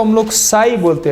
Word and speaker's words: psi: इस निशान को हम लोग साई बोलते हैं। साई, ये पसाई नहीं है, PSI, पसाई। ये P साइलेंट है, साई, साई।